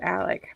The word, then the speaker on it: Alex: JC says they pronounce it Alec, but it's spelled like Alex.